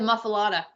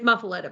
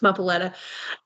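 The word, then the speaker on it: muffuletta: did you try the muffa yes um is it comparable with a Louisiana muffa no it's muffaletta by the way you made me say it like you say it it's muffaletta it's good you can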